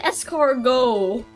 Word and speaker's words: escargot: Stop putting T's in that word. You don't even spell it. It doesn't even sound like that. What do you mean escargot?